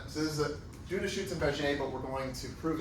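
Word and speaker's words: Schützenberger: So the name, I guess, is like German, but I think he lived in France, so it has a French pronunciation, Schutzenberger.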